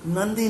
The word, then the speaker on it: Nandi: तो उसी पे ये नाम नंदी रखा हुआ है, और इसको स्पेल करते हैं NANDI, नंदी, but they call it एज ए नादी, एन साइलेंट है, नादी।